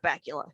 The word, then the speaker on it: Bakula: and i love scott bakula his name rhymes with butt crackula i mean there's absolutely